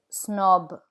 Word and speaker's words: snob: The final consonant is pronounced in words borrowed from other languages, like le weekend, snob.